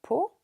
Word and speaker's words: pot: Un petit pot de miel, il y a un T muet à pot.